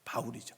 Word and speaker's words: 바울: 바울이죠. 사울은 히브리식 발음이고 바울은 로마식 발음이에요.이 사울이 바울로 바뀐게 아니고 발음이 다른 거예요.